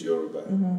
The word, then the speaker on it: Yoruba: And that's why 90% of my works on my music is Yoruba. Because when I pronounce it, I put it in the center.